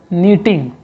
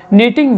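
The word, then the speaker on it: knitting: weaving दूसरा method है मीटिंग ठीक है यह साइलेंट है के को नहीं पढ़ना आप इसके बाद सारा वर्ड को करो मीटिंग वीविंग यह दो इंपॉर्टेंट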